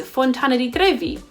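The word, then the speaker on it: Fontana di Trevi: ill collar sale and the trevi fountain is Fontana T groovy but the Spanish Steps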